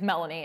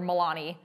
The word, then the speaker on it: Melanie: called her, her name's Melanie, and they called her Milani. And I was like, how do you even mispronounce Melanie?